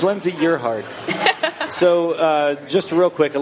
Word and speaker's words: Gerhard: Pronounce it. How do you say it? Gerhard. Nope. Jared.